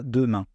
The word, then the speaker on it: demain: une différence et puis quand le E est placé au milieu d'un mot entre deux consonnes on ne va pas le prononcer par exemple les mots